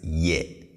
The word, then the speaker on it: ye: is ye yeah now please pay attention to how i pronounce this i say yes not yet okay so the tone is on the lower side yeah yeah not yet if you bring the tone up you might be saying something completely different and